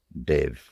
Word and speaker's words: Deva: Dev is pronounced Dev without that final A.